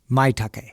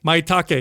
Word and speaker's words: Maitake: Maitake. Maitake.